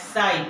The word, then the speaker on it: psi: It is pronounced as psi, P-S-I, psi.